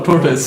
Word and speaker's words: tortoise: No, tortoise. It's not tortoise. Tortoise. Some of you are saying tortoise. It's tortoise. Tortoise. Like Toronto. Just like Toronto.